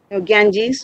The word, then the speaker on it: Ganges: think of river Ganges Ganges means our river Ganga this is how it is pronounced in English now what comes to